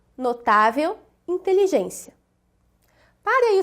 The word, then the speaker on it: notável: Na palavra notável, reconhecemos aqui uma paroxítona terminada em L, com acentuação aqui na penúltima sílaba.